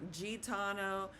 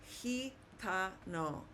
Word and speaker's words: gitano: So, the word G with an I is not gitano. It's not gano. It's heano. Heano. Okay. Which is a gypsy.